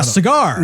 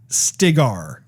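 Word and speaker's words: Stilgar: so cigars uh yeah cigar no it's not cigar cuban i think i think i think it's stigar s-t-i-g-a-r okay i may be pronouncing it wrong but anyway but the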